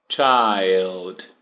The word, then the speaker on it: child: O singular é aqui. Child. Então você diz il, como se fosse ILL, doente. Child.